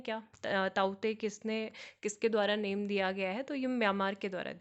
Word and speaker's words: Tauktae: तो ये नहीं है इन साइक्लोन ताउते, ठीक है। तो इसको के जो यहाँ पे है, के इज साइलेंट, ठीक है। तो इसको ताउते पढ़ेंगे।